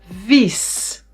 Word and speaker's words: vies: This is man a short and maan long a or vis short i and vies ee long ee or les a short e and lees a short a.